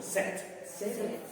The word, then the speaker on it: said: Ojo con la pronunciación. Franco said. No. Say. Franco said. No. Said. Como cuando usted tiene sed.